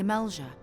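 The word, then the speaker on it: Amalj'aa: The Amalja. Summoning a fleet with such crystals as they have hoarded. That's how you pronounce it.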